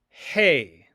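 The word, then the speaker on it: ἡ: The form of the word the that we've already learned is hey.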